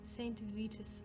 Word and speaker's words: Saint Vitus: Saint Vitus is how he pronounced it, or how we pronounce it in English.